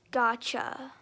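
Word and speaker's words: gacha: I usually call them cha-cha because it's like chibi and stuff like that and that it's actually like anime but it's usually pronounced gotcha but I usually pronounce it like cha-cha and whoever wants me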